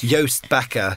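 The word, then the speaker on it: Joost Bakker: name to pronounce but yoast backer so gosh i was i was i was further off than i hoped all right it's all right but uh yo it's like toast with a the letter y yoast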